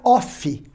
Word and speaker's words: off: Aquela que tem dois Fs se pronuncia off, tá? Não confunda, uma é of e a outra é off.